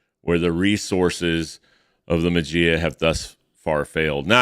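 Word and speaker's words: Maggia: failed now I think I'm pronouncing that right uh pretty sure it was McGee I've heard it I've heard people pronounce it different ways when I was a kid I pronounced it the magia because I didn't know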